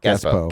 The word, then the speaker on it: Gazebo: Gazbo, Gazbo. like Expo. Right. Yeah, Gazebo. Gazbo.